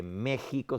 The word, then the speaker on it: México: Muy parecido en el lenguaje mexicano, ¿no es cierto?, donde México se escribe con X, pero se pronuncia con J.